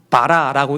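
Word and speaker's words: בָּרָא: 저게 이제 바라라고 읽는데 이 바라는 단수 동사예요.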